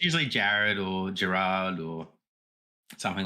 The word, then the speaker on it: Gerard: So it's the original Maltese spelling, which is Gerard. So it can be a little bit weird. Okay. So like I would say Gerard, something like that. Yeah. So the way it's spelled, it isn't pronounced that way.